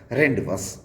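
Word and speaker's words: rendezvous: हुआ रेंडी, VOUS वस, रेंडवस word में Z साइलेंट होता है।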